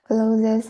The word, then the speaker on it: clothes: The main reason is the street markets are a traditional and popular way for people to shop especially for fresh food, snacks, clothes and more household items.